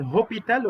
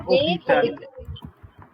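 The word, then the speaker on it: hôpital: ميزون وبعد كده المستشفى حرف الاش لا ينطق اقول هوبيتال ولا اوبيتال اوبيتال اوبيتال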